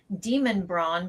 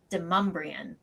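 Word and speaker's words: Demonbreun: There's a street that would be pronounced Demon Braun, but here it's Demumbrian.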